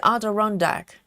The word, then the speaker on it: Adirondack: Like A is pronounced like apple. Ada. Is Adirondack. Not rather than Ida. Ada. Adirondack.